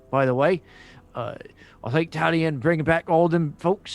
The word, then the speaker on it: Talion: You said the name wrong. It's Talion, I believe, is what you mean to say.